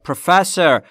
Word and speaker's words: professor: That man, اون آقاه, is a professor. تلفظش رو دقت کنید بچه ها. پروفسور نیست. پروفسور. استرس روی F.